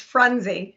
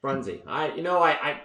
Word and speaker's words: Frunzi: You added an extra couple vowels. It's Frunzi. Frunzi. It's because it's the Italian thing.